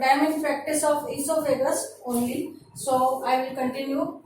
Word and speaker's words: esophagus: According to spelling, nowadays a few people pronounce it as oesophagus or osophagus, but I am in practice of esophagus only, so I will continue with that way only.